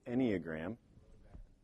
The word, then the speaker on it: Enneagram: but this how do you say that the Enneagram road back to you there you go so